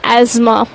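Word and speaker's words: asthma: Respiratory disorders की बात कर लेते हैं तो एस्थमा लिखते हैं, बट नाउ new pronunciation of एस्थमा इज एज़मा।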